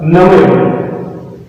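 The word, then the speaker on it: نمر: Namir. Namir. We pronounce it in Arabic namir.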